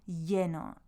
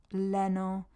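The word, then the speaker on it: lleno: means full so this there's this Double L again um as in the previous video It's A Y sound so I've given you a little hint there of how to say it so yeno not Leno or they wouldn't know what Leno meant so you need to get that Y in thereo or you could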